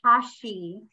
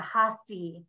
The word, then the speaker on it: hashi: so I'm learning that I want to say Hashi but that's not how it's pronounced it's with an S like a hasi not Hashi um so I'm trying to